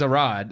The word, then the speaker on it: Arad: Say Aviarad, but it's Arad, Arad. Okay.